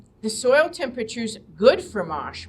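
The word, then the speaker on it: mâche: soil temperatures good for mosh right now and um unfortunately you would have to order it you you don't see mosh it's ma c h e is how you spell it you could plant that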